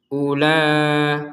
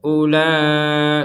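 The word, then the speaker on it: أُولَٰئِكَ: Kenapa u ini tidak dipanjangkan? Kenapa? Karena di huruf waunya ini di atasnya ada bulatan kecil. Nah, kalau ada huruf wau, huruf ee alif ataupun huruf ya, yang di atasnya ada bulatan kecil seperti ini, maka ini tidak dibaca panjang sama sekali. Jadi seakan-akan tidak ada ya, tapi wajib ditulis karena ini satu kesatuan. Jadi, ula langsung ula.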